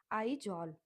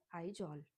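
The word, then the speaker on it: Aizawl: अब आगे है Mizoram, MIZORAM, meso, Mizoram, two parts में, मिजो और रम के स्पेलिंग याद करके कर सकते हो। मिजोरम का होता है आइजॉल, AII, और जॉल हो जाएगा ZAWL, ठीक है।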